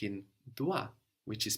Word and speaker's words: dois: The O-I there gives us wa, like in dois, which is spelled D-O-I-S.